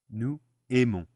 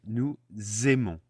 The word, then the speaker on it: nous aimons: We turn the S of nous into a Z, and we pronounce it nous aimons.